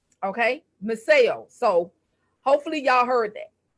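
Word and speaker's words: μισέω: The word is pronounced Miseo. Strong's G3404, Miseo. Okay, Miseo.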